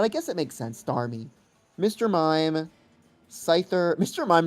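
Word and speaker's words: Starmie: It's It's got to be star me, right? Cuz star you is like you. So star me is like me. But it's spelled funny because it's I E.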